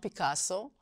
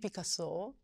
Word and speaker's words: Picasso: In Spanish the proper pronunciation is "Picasso". And with a French accent it's "Picasso".